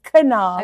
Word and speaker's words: Knaub: Yeah, and I think I think what I understand is half of my husband's family pronounces the K and the other half don't.